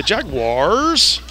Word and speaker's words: Jaguars: I heard that they they didn't call it the Jaguars they call it the Jaguars yeah Jaguar had that uh that ring that roll off the tongue the Jaguars that British pronunciation all right first and